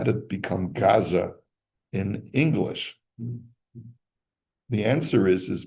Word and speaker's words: Gaza: Gaza, and so Hebraists say Aza, Ashkenazi Hebraists say Aza, and the English people who listen to Arabs don't know how to say Gaza, so they call it Gaza with a hard G.